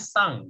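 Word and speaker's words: さん: Terus setiap, Oke, jadi misalnya sakura, tulisannya sakurasan ya, tapi kalian bacanya sakurasang. Ya, jadi N-nya itu baca eng, sakurasang. Jadi setiap manggil nama orang di Jepang itu pasti ada san-nya gitu, tapi bacanya sang gitu ya.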